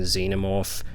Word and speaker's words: xenomorph: going to have to stop pronouncing xenomorph with a long e sound as this film uses a short e sound and I like the sound of it xenomorph yeah I think that sounds pretty cool I don't know if